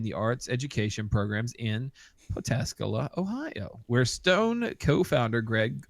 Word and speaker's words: Pataskala: about that anymore so while those in the know favor the third pronunciation Pataskala uh Pataskala Red IPA can also be called but Pat askala or Peta Scala IPA uh no matter how you say it though this is a